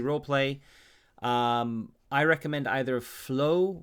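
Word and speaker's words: Fleaux: um i recommend either flow which is spelled f l e a u x which is a sort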